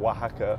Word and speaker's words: Wahaca: We have a chain of Mexican restaurants called Oaxaca.